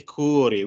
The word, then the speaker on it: cuore: Okay, cuore with the U, a long U, cuore.